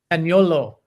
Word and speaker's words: Zaniolo: signing Roma forward Nicolo Zaniolo. If I'm pronouncing that right, I apologise. The Roma player. Heard anything from that, Ben? Zaniolo is the correct pronunciation, and I actually used